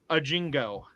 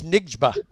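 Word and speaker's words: Njigba: again this week yeah now how do you say this guy's name jackon Jackson a Jingo no it's nigma okay so it's Jack on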